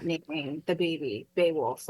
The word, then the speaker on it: Beowulf: Beowulf, yeah.